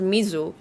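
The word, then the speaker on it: 水: shre in Chinese but it's pronounced Mizu in common Japanese but what I have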